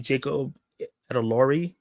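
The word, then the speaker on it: Jacob Elordi: web if you will a lot of people were saying Jacob edori is how you say his name is the guy from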